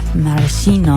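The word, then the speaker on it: Maraschino: Is it a silent S or a silent c? I think it's like a chishino. Okay. Marishino.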